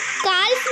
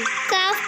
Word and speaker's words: calf: Rule, L is silent after the vowels A, O and U. Calf, half, almond। हम इसे काल्फ नहीं काफ पढ़ेंगे, हम इसे हाल्फ नहीं हाफ पढ़ेंगे, हम इसे एलमोंड नहीं अमोंड पढ़ेंगे।